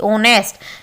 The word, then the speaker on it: honest: जैसे कि ऑनेस्ट मैन, ये जो वर्ड होता है HONEST, ऑनेस्ट, देखिए स्टार्ट तो किससे हो रहा है, ये जो कॉन्सोनेंट्स वर्ड है, लेकिन हमने क्या करना है, इसका प्रोनाउंसिएशन देखना है। प्रोनाउंसिएशन में इसको ऑनेस्ट बोला जाएगा, ठीक है, ऑनेस्ट।